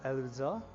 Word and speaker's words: Erza: So okay, I think the Japanese version is pronounced as Erza, and the Chinese version is called Ailusa. So the Chinese version leans towards more on the Japanese version, Erza.